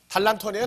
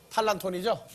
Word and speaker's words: τάλαντον: 근데 달란트라고 하는 이것이 원래 본 발음은 헬라어에서 온 단어예요. 다 같이 달란톤이에요? 탈란톤이에요? 탈란톤이죠? 네.